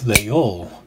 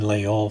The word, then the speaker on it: Laguiole: There's also another name that is given to these knives, and that is Leol.